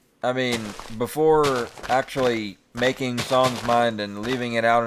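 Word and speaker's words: Sohn: Because I was watching a Mysteries at the Museum thing, and they were talking about a guy with the last name S-O-H-N, and they pronounced it Son, and I realized when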